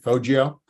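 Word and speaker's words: Foggia: here's the uh faggio i have that pronunciation right fojio um in southern italy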